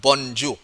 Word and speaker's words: bonjour: this spelling is b-o-n-j b o n j o u r that's the how we spell this letter this word but the pronunciation is not bonjour no it's bonjour bonjour okay and then